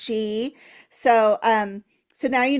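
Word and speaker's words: sidhe: see it written s d he e it's pronounced she so um so now you know something we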